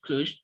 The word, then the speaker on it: Cluj: kobe they again there's a show in the cluj is that how you pronounce it yeah exclusive cluj so it's gonna be my first time inclusion